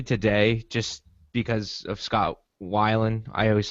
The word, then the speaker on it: Weiland: I don't know why I say Whelan. I'm not going to stop calling him Scott Whelan. Wait, I it's know not it. Whelan? No, it's Scott Weiland. That's how his name is pronounced.